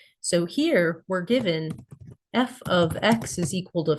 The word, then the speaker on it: f(x): Number one, we've got function notation and this is pronounced f ofx.